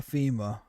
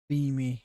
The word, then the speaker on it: Femi: Oh, we get to hear from Oba Fema. So that would be a good one as well. If we go to Oba Fema. Or Femi. Femi, I think is how it's pronounced.